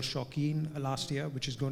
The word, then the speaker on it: Shauqeen: So yeah, Shauqeen is an IP that we've started. It's actually a word play. It's show, which is spelled as show, and keen.